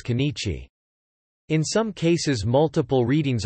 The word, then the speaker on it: 今日: In formal writing this will generally be read as kanichi.